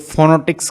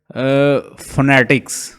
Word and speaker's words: phonetics: पढ़ते हैं कुछ लोग, कुछ इसको पढ़ेंगे फोनोटिक्स, कुछ इसको पढ़ रहे होंगे फोनेटिक्स, कुछ असल इसका जो इसकी एग्जैक्ट प्रोनाउंसिएशन है फोनेटिक्स, फोनेटिक्स, ठीक है, PHONETICS,